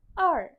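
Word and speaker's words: 二: i angka dua or or or dengan nada empat turun nah r-nya tidak perlu bergetar r r untuk hansunnya dua Lalu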